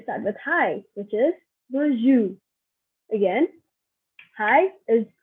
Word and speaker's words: bonjour: So we start with hi, which is bonjour. Again, hi is bonjour. And if you see here, I do not pronounce the R at the end.